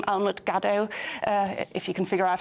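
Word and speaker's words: Almut Gadow: Well, if they Google my name, Almut Gaddo, if you can figure out how to spell that.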